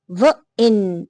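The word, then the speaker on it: wine: लेकिन जैसे ही मैजिकल इ यहां पे लगता है तो क्या बन जाता है? वाइन। आई का साउंड वाइन।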